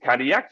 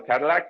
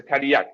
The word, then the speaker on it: Cadillac: all of you, that it's not how you pronounce it. You pronounce it Cadillac. So next time you see a car like this, it's not a Cadillac, it's a Cadillac.